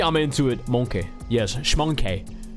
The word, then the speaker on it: Schmonkey: Yes, schmonkey. You gotta spell it like schmonkey. S-C-H-M-O-N-K-E. Schmonkey.